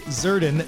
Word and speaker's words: Zserdin: our dear friend Tracy zurden the S is silent we are not gonna say it uh Tracy has been